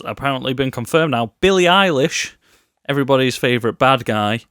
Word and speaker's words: Billie Eilish: Billie Eilish, everybody's favourite bad guy. You're saying it wrong. It's Billie Eilish.